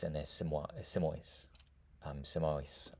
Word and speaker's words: Simois: Um Simois, I suppose is how we might pronounce that.